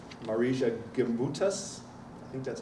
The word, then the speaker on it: Marija Gimbutas: If you believe some archaeologists like Marija Gimbutas, I think that's how you say it, and